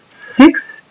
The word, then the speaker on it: six: 6 tiene la I corta. Dense cuenta que es una I bien cortita.